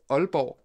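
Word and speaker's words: Aalborg: funny one that's a danish one uh that's pronounced albo we have an albo how would you pronounce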